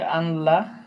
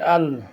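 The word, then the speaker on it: ألا: অনেকে বলে আনলা, আনলাটা ভুল, কারণ নুন সাকিনের পরে এখানে ঈদগামে বেলাগন্না হওয়ার হরফ লাম আসছে, এজন্য বলবেন যে আল, হামজা নুন লাম জবর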